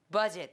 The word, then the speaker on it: budget: 이런 식으로 읽어 주세요 버드 지이나 버드 아 아니야 에다 강세를 세게 찍고 buget는 거의 발음이 잘 안요 거의 없듯이 한번 해볼게요 buget buet there you go 자